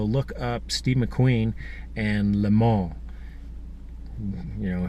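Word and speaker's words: Le Mans: up Steve McQueen and the mall you know here in America we mispronounce everything French Lomond is the mall so you can watch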